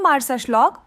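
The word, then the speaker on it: Marsaxlokk: माल्टा के दक्षिण पूर्वी तट पर स्थित मछली पकड़ने वाला गांव मारसा श्लॉक उच्चारण मारसा श्लॉक वह स्थान है जहां परंपरा जीवंत रंगों में जीवन में आती है।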